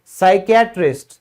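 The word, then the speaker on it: psychiatrist: फिर है चिकित्सक, साइकियाट्रिस्ट, तो साइकियाट्रिस्ट है तो इसमें भी स से शुरू है।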